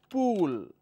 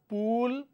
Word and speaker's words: pool: example on this so I have a word which is pull this is this usest short vowel sounds right now if I replace the short wall with long wall it will become pool so there is pull short wall pool long wall likewise we have cell